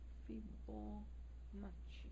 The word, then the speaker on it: Fibonacci: is a series called Fibonacci numbers, or Fibonacci numbers. I'm not sure how you pronounce it. Yeah, Fibo. It's a B. Fibonacci.